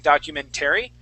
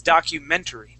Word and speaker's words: documentary: So, the accent is going to go right on the E. So, instead of at the very end saying documentary, it's documentary. Try that. Okay. One more time. Yeah. It's not like dictionary. This word is documentary.